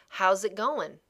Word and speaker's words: how's it going: you can see that the pronunciation slightly different from the spelling right you can sear that